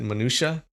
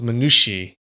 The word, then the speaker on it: minutia: Oh, so people usually pronounce it minutia. That sounds right, minutia. Yeah, that was one of the pronunciations that Merriam-Webster gave us. The other one was minushi. Minushi. Like I never heard of that before.